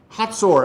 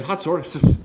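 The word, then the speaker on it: Hazor: of jaben king of canaan who reigned in hassour here's a sore right up here north east of the sea of galilee hot sore actually is the way he pronounced that in hatzor cicera the commander of the army was based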